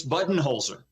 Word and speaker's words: Budenholzer: entire life pretty much growing up with the button Holzer family that is how it was pronounced it's it pronounced whether it's his dad Vince uh Vince Buton holer who's still with us his mother passed away last year Libby she was the mayor of Holbrook for for many years um it's button holer his older brother Billy